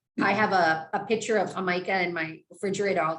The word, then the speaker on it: jamaica: If you spell it phonetically, it's Jamaica, but you say Jamaica, and it's.